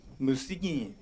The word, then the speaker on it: Musigny: Pronounce it. Musigny.